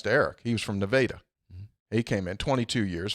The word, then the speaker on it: Nevada: sure he told me it's spelled like Nevada but that's hurricane hurricane here yeah but but the a is long it's true Nevada yeah just about eight